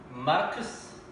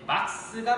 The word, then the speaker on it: 막스: 여러분들 누가 막스일까요? 마르크스 뭐가 맞을까요? 예, 막스가 맞겠죠. 마르크스라는 건 일본 사람들이 막스 발음이 안 되니까 일본식 영어 발음으로서 마르크스라고 했던 거고요. 우리는 R 발음이 되니까 막스라고 하는 게 맞겠죠.